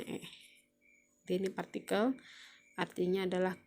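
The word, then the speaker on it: へ: Nah, ini kan hurufnya he ya. Hurufnya he. Jadi huruf he sama dengan wa. Kalau dia ada di tengah-tengah kalimat, dia dibacanya e.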